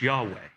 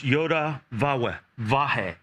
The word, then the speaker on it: Yahweh: of the scholars out there that it is pronounced Yahweh. But it's also, if you want to say it with close, not close enough, it's Yoda Vahe, or Yoda Wahe.